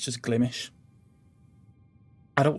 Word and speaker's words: Glimesh: on this website called glimish now i was pronouncing it glimesh because whenever i see the name um i